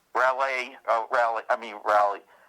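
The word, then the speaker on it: Raleigh: Stein r r a w how do you spell it R A L E I G H rally oh rally I mean rally f t e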